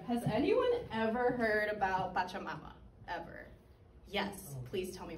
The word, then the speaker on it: Pachamama: Pachamama. Pachamama. Mm-hmm. That's his mother in Italian. Yeah, so Pacha, not bacha. Pacha. Pacha with a P.